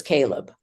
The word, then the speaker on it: Caleb: Oh, how do you pronounce it? In Hebrew it's KV and in English it's Caleb.